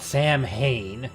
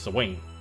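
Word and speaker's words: Samhain: Or the night of Swain? I think that's how you're supposed to pronounce the name. Swain. Not Sam Hain. It's Swain.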